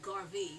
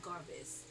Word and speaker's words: Garvey: Garis May gar uh how do you say Garvey not Garvis this is the bag